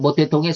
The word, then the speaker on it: 모택동: 중국인들은 중국식 발음으로는 마오쩌둥, 우리 한문 발음은 모택동이라고 그럽니다. 그래서 마오이즘이라고 말하는 모택동의 사상.